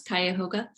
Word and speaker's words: Cuyahoga: I pronounce this incorrectly, Cuyahoga County Public Library. It's close, Cuyahoga.